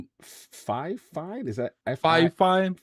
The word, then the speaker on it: Fifine: How do you pronounce that name? Fifine? Is that Fifine? Fifine, yeah.